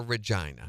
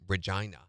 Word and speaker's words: Regina: That's the British Canadian version of Regina. They say Regina.